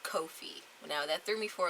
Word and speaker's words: Ko-fi: I recently learned that it's not pronounced coffee who knew they use a coffee cup for their logo so that just threw me for a whirl there but Kofi is the creator platform